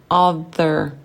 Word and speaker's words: other: Ah, le TH, other. Si tu arrives à prononcer, bravo. Si tu n'arrives pas encore, répète encore. Other, other. Langue entre les dents.